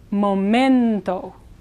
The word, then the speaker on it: momento: who can help translate un momento again you is like mento in a good t with the tongue behind the teeth one moment now if